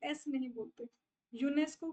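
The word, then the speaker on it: UNESCO: डी एस नहीं बोलते यूनेस्को को आप पूरा एज अ वर्ड प्रोनाउंस करते हो उसके लेटर्स को सेपरेटली प्रोनाउंस नहीं करते सो दिस इज़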